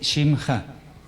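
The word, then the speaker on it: שמך: Una vocal corta hace que esto no se pronuncie.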